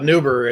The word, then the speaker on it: New Bavaria: we're from a little town called neuber it's new bavaria nothing german about that but we call it an uber out there because it's